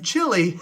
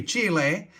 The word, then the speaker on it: Chile: about called lithium chile not to be confused with lithium chili as i've heard it pronounced i'm talking about the country chile as in south america the remainder of this